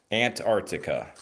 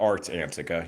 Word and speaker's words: Antarctica: Antica you are correct it is Art Antarctica Antartica not art Antica you know yall know